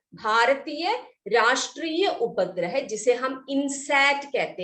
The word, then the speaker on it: INSAT: इनसैट का spelling देखो किताब में, INSAT, इनसैट कहते हैं, इनसैट, INSAT, इनसैट, ठीक है।